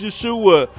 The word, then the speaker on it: Yeshua: don't care about that Jesus name don't start with a J there was no J's invented at the time this real way to pronounce his name is Yeshua well no [ __